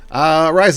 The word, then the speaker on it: Ariza: Let's talk about Ariza. Yes, that is the way you pronounce her name. Ariza is an Aasimar cleric bard.